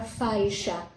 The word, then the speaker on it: faixa: Por exemplo, a palavra faixa. Faixa tem um som de CH, mas se escreve com X. A palavra enxada também tem um som de CH, mas se escreve com X, né?